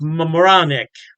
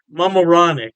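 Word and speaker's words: Mamaroneck: state put Kipsy and I believe it's pronounced Mam moranic Mam moranic yeah don't quote me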